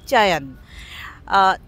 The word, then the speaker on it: চয়ন: চয়ন এমন একটি সংস্থা বা শুদ্ধ উচ্চারণে যেভাবে উচ্চারিত হয় চয়ন, 3 বছর ধরে কাজ করছে।